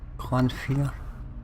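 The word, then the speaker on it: Clannfear: So I want to go for a Clanfear, that's how you pronounce it.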